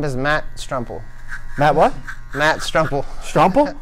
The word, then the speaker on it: Stremple: say your last name my name is Matt strum pool Matt what Matt's truffle Rumple yes sir okay